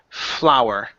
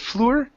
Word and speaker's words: flour: here is the word flower right here instead of floor our flower just like a flower in the in the field flower flower good good